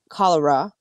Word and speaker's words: Colorow: friendly here but the actual native american chief cholera is how they pronounced it so this one we're going to